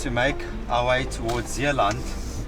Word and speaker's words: Zeeland: So for us to make our way towards Zeeland, we're pronouncing it Zeeland because it's like Afrikaans.